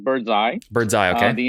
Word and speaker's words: Birdzi: right so what is birdseed doing how do you make money so first correction uh we pronounced it bird's eye bird's eye okay and